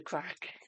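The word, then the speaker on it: craic: I thought when you say what's the crack in Irish, it's just C R A C K. I didn't realize it's spelled C R A I C.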